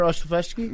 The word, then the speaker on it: Olszewski: Gunnar Olszewski?